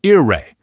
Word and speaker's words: il re: Whenever L comes before a word that starts with an R, that L just magically turns into another R. So il re becomes ir re, and il ragazzo becomes ir ragazzo.